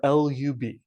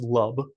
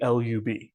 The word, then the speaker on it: lub: least upper bound or lub I've seen some people pronounce it as love I'm going to always refer to it as the least upper bound or the lub um I'll also mention